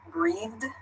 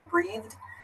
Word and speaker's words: breathed: And then finally, the third sound is a soft D in the word like breathed, breathed. So the D sound is a bit softer.